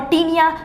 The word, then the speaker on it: tinea: टीनिया, क्या बोलते हैं, टीनिया, TINEA, टीनिया बोलते हैं।